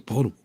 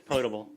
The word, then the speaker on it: potable: a cup is a portable audible whatever how do you say it what's the right way to say it correct me please sounds right to me I I believe it's potable quotable okay well thank